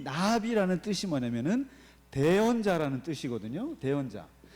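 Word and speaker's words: נביא: 예언자들의 편지, 예언서들이 예언서 한 묶음이 16명의 선지자들이 나오는데 이 예언자라고 하는 것이 히브리어로 나비라고 합니다. 나비야. 그 발음이 나비입니다.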